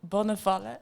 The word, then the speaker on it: Bonnevalle: It's Bonnevalle. It's actually Belgian name.